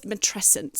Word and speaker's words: matrescence: So it's matrescence.